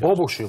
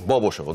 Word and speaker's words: Бобошево: на александър везен да ударението на първото о само да кажа бобошево бобошево добре ли непрекъснато ме е